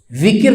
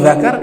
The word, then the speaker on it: dzikir: itu bacanya bisa salah zikir dibaca Bang kalau zikir berzikir kalau Zakar itu kemaluan Nah di sini disebutkan